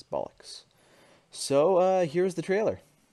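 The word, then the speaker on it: Ballox: actually hurt um and the name is not spelled the way the actual word bollocks is uh the way it's spelled is b-a-l-l-o-x that's what my game's name is going to be is bollocks so uh here's the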